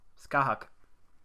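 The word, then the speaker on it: Scáthach: It's spelt Scathach. But this is Irish words. Skahak.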